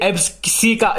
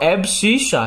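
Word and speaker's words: abscissa: अब इसको सी मत बोलना, ऐसे एब्सी का, इसको बहुत अलग अलग लोग नाम से बुलाते हैं, कोई बोलता है एब्सी का, लेकिन अगर इसका आप करेक्ट प्रोनाउंसिएशन देखोगे तो एब्सिसा है।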